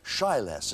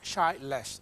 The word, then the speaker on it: Shyless: I heard Tom Edwards say Shyless. Is that how to pronounce it? That's right. Less shy. Shy less.